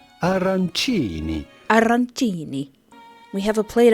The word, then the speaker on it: arancini: We are looking at how to pronounce arancini with a typical Italian pronunciation, arancini.